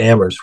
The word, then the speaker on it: Amherst: We're right next to Amherst, where only the H is silent.